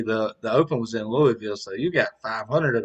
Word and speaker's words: Louisville: story and first off notice i said louisville not louisville i feel like people